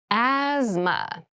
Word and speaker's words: asthma: deep cavity deep cavity asthma asthma Asma so this word has very interesting spelling there's a th in the middle but we don't say Asma we say asthma